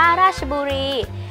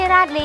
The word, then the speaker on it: ราชบุรี: มา บวก กับ บุรี แต่ เวลา อ่าน ออก เสียง ต้อง อ่าน ออก เสียง ช ช้าง เป็น สลอ ครึ่ง เสียง อ่าน ว่า ราชบุรี ไม่ ใช่ ราชลี อย่าง ที่ ใคร ๆ ออก เสียง ผิด กัน จำ ไว้ นะ จ๊ะ